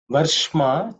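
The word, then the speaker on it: वर्ष्म: In terms of pronunciation, the only letter you have to pay attention to is ish. This ir ish. This ish is cerebral sha. The tip of the tongue should point up.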